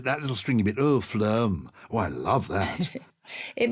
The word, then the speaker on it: phloem: do you spell that it sounds a bit like phlegm which is why it's really not very nice it's p-h-l-o-e-m phlegm p-h-l-o so when you're